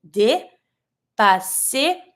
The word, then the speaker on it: dépasser: On the first E, you have the accent, so you're going to say dépasser, double S, S sound. Not careful, not dépasser, but dépasser.